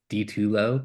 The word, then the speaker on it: DiTullo: If you want to find me on Threads or Instagram, it's DiTullo, but phonetically. So the letter D, the number two, LO.